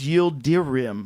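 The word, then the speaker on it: Yıldırım: It's Yildirim.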